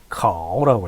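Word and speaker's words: 考: 중국어로는 카오라고 읽힙니다.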